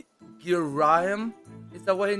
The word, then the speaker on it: Girahim: his name was not Garahim. His name was pronounced in Girahim.